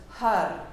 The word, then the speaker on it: har: So each tap of the heel is the syllable, and the syllable is har, H-A-R, and har is the sound of creativity, of that which brings ideas into being.